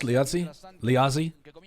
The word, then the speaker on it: Liazzi: The first pronunciation was correct, Liazzi. Yeah, Italian is more like C, right? Whereas I think Portuguese is more like Z.